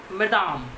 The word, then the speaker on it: madame: husband, Matilda's husband, madam, it is a French word, MME, okay, and it is pronounced madame, okay, madame, okay.